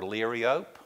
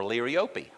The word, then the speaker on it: liriope: So this is liriope, or liriope, or liriope, or monkey grass, or border grass. Okay? So, you know, liriope is cheap. Liriope is expensive. Okay. Okay. So there are some of the different ways to pronounce it.